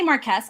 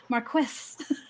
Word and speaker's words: marquess: is indeed a marquess i always say marquez i always have but that's not actually how it's pronounced marquis i need to practice